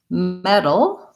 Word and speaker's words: metal: very similar we have metal like metal cookware or the substance metal and we have medal which is something an award that you win this is a flap t it's basically the same these two words are